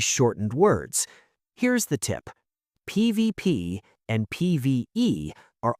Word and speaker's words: PvP: PVP and PVE are almost always said as the individual letters PVP and PV.